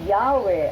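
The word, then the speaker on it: Yahweh: New World Bible translation while inclining to view the pronunciation yahwe as the more correct way we have retain the form Jehovah because of people's familiarity with it since the 14th century ah naimbento lang yang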